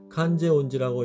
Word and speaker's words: 観世音寺: 다자이후 덴망궁의 인근에 있는 일본어로 칸제온지라고 읽는 관세음사에 그 흔적이 남아있습니다.